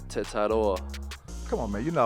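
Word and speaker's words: Tetairoa: Let me hear it, man. Tedoror. That's wrong? My name is Tetador.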